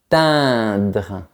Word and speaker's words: atteindre: Pour prononcer les lettres E-I-N, tu ne dois pas imaginer un rectangle vertical dans ta bouche. Au contraire, tu dois imaginer un rectangle horizontal. Atteindre.